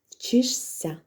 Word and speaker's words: вчишся: а вимовляємо ця віритьсяця шися вимовляється Як сся вчишся жся як зся намажся